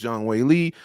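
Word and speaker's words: 张伟丽: I did say it right. It is Zhang Weili officially.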